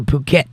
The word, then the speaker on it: Phuket: That's how you pronounce that word. I used that word in some of my shows a long time ago because of what it looks like it says, but that isn't what it says.